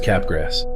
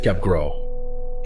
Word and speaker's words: Capgras: First discovered in 1923 by French psychiatrist Joseph Capgrass. If you wanted to pronounce it in French, it's Joseph Capgro.